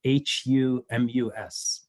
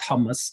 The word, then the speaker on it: humus: word that is spelled h u m u s, right? It's not hummus. It's humus. It's not tasty hummus. Yes. No, it's not tasty hummus. That's that's Arabic. So So humus is Latin.